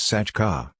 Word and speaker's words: satroka: The combination tray can often become a DCH sound, so that Satroka, hat, is pronounced Sachka, and Mahya.